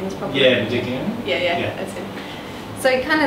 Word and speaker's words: Modigliani: So it was very much around just color and line, and very almost like more, how do you say, Modigliani? Am I saying this properly? Yeah, Modigliani.